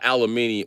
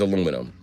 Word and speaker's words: aluminium: Aluminium is aluminum. That's how the British say aluminum.